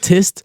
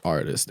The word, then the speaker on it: Rtist: Be like, please pronounce it as artist. I know it says Rtist, but just say artist.